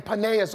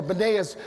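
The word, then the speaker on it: Banias: they find themselves in paneas or banayas is pronounced with the b because there's no p in arabic and so it's it's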